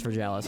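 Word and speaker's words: Vergilius: And that is how you pronounce Virgalis.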